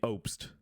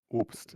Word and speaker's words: Obst: So it is Obst, or technically correctly, Obst. Yes, Obst, if you want to go deep dive into German pronunciation.